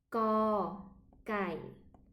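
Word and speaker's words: ก ไก่: Première fois, on va lire le nom de la lettre, cocaille. Et la deuxième fois, on va prononcer le son de la lettre comme en français, que. Le premier, co, cày. Co, cày, comme ça.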